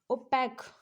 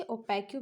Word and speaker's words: opaque: ओपैक, ओपैक कह सकते हो, इसे ओपैक्यू भी कह सकते हो, कुछ भी प्रोनाउंसिएशन कर सकते हो।